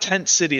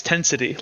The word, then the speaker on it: Tensity: it's pronounced as one it's not Tent City it's tensity like one word the density lays before